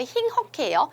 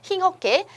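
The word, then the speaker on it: 힁허케: 여러분 자음의 의의가 있으면 그냥 이로 발음하시면 되잖아요. 그래서 힝허케예요. 힝허케.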